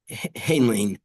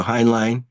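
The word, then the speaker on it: Heinlein: planet by Robert a uh hanling uh in 1949 do you have a better pronunciation thank you hin line and the Martian Chronicles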